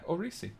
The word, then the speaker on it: Orisi: Um, I'm going to pronounce the prison wrong. Orisi? Yeah, Orisi, that's correct. Okay.